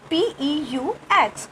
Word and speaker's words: peux: Pouvoir verb conjugated like this, pa, P-E-U-X, but we do not pronounce X. Okay. The pronunciation is pa, which is this, pa. Okay. Je peux, I can.